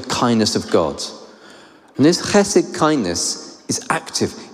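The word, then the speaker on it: חסד: And that's my best Hebrew pronunciation, chesed.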